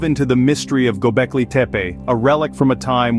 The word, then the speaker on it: Tepe: Göbekli Tepe, pronounced Göbekli Tepe, carries an intriguing meaning, belly hill.